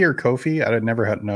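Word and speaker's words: Ko-fi: Is it coffee or Kofi? I would never know how to say that. It's pronounced coffee.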